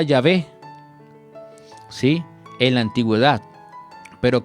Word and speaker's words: Yahvé: Tetragramatón, que probablemente se pronunciaba Yahvé, ¿sí?